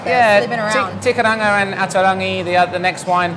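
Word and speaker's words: Te Kairanga: Starting off with TK, or how do you properly pronounce it in New Zealand? Tekaranga. Tekaranga.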